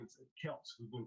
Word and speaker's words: Kelce: How about Travis Kelsey saying the other day his last name is Kelce, who's been pronouncing it wrong the entire time?